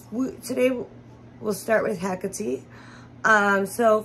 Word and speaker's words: Hecate: with hackity um so first pronouncing her name right is a very simple one um I know when people just look at it they might think heck it or Hecate um but the right way there's two right ways